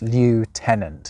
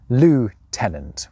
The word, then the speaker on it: lieutenant: There's basically no trace of it ever being pronounced in English with the usual anglicised versions of those two components. Lieutenant has never really caught on. Nowadays, it's the Americans who come closest with their pronunciation of lieutenant, which, though much more true to the spelling of the word to British ears, kind of sounds like the occupant of a restroom.